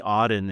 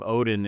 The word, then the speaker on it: Odden: Well, it's like people calling me Odden instead of Odin, and, phonetically, I suppose that's I would have correct, done but that.